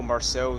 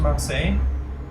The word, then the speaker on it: Marseille: to say how beautiful Marcel still is even to this day isn't the TLC area so it's pretty new it's part of DLC yeah Ryan's TLC yeah obviously also isn't it pronounced to Marseille what I'm saying yes